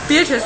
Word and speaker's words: Beatrice: is your name is wait is is it beatric oh my go she said three times already beatric right yeah okay yeah see I don't even